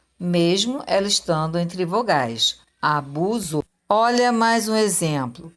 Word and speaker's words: abuso: busco podemos deduzir que a palavra abuso e ela se escreve com s mas tenho mesmo som da letra z e quando a palavra